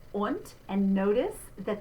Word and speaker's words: und: Und, and notice that the D spelling at the end of the word, we pronounce like a T.